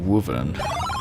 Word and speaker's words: wyvern: And apparently the guy pronounced wyvern as woven. I've never heard it pronounced like that, but I guess it would kind of make sense since the old